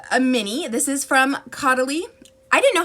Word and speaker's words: Caudalie: This is from Caudalie. I didn't know how to pronounce that for the longest time. This is by Caudalie, Vino sourced.